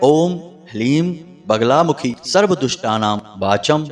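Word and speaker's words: ह्लीं: ध्यान से सुनिए ओम हलीम इसमें ह ला और बड़ी ई की मात्रा और अं की बिंदी हलीम यह है माता बगलामुखी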